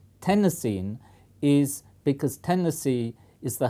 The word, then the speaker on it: Tennessine: I would pronounce it Tennessine, like iodine and chlorine, but some people in America say chlorine and iodine. But my feeling is that everybody will say Tennessine because it sounds just